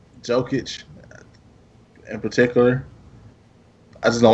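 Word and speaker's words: Jokić: We got, how do you pronounce this dude's name? Nikola Jokic. Jokic.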